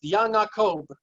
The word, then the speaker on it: Yaakov: And all vets are bets. So the name Yaakov is Yanakob, as an example.